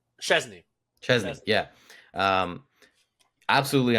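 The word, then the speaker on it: Szczęsny: Chesney.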